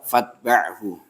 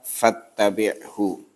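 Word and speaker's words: فاتبعه: Fashammithu wa idza marida fa'udhu wa idza mata fatba'hu. Rawahu Muslim. Ya. Sebagian membacanya dengan wa idza mata fattabi'hu.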